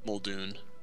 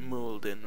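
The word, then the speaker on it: Muldoon: talk to surgent molden is that moldun or molden moldun oh I always pronounced it molden for some reason wait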